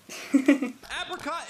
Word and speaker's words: apricot: Apricot indulgence. Okay. Apricot's pretty good. Also, it's pronounced apricot.